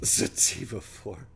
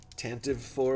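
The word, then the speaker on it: Tantive IV: of my favorite ships sativa 4 yes that's the that's the actual way you pronounce it some people say it tantive for which is incorrect and apparently tantivy for is incorrect it's sativa for just so you all know TK uh educating people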